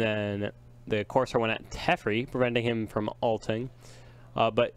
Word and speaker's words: Teferi: And then the Corsair went at Teferi, preventing him from alting. But it probably will be only It's at Justin pronounced next turn.